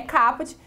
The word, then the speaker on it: caput: A forma correta da pronúncia é caput, que vem do latim, que quer dizer a cabeça.